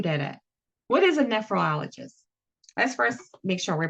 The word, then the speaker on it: nephrologist: So, a ne sound here, not nephrologist, but rather nephrologist. Then an emphasis on the... Got it. It's not nephrologist, it is nephrologist.